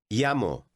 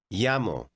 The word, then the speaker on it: llamo: Llamo. The double L is pronounced ya. Listen and repeat word 5. Llamo.